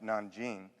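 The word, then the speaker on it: Nanjing: what the japanese did to the chinese which pronounced non-gene and thought wow they're pretty radical we're we're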